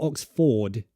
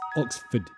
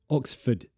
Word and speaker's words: Oxford: okay no instead of Oxford you might be pronouncing the r in Ford it's not Oxford it's Oxford Oxford say it like that Oxford it's a schw again Oxford so first stress